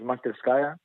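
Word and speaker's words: Masterskaya: come from the real the real pronunciation is Montes kiyah it's a Russian word meaning workshop and you know I I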